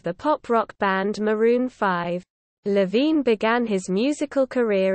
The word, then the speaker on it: V: over 2010 overexposed 2012 v pronounced 5 2014 and red pill blues 2017 as part of maroon 5.